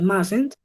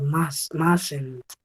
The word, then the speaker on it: mustn't: The pronunciation, you can say mustn't o you can say must not. ¿Sí? Un error común es pronunciar esa U tal y como está, ¿cierto?